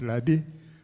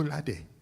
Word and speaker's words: Lade: Please note that his Lade has an accent aigu on the E. So if you don't pronounce this properly, you get into trouble.